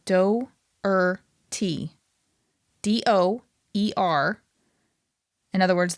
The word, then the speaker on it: Doherty: I'm saying Do-er-T. D-O-E-R. In other words, the O and the E don't make one sound. Doherty? You're not Doherty. pronouncing it Doherty.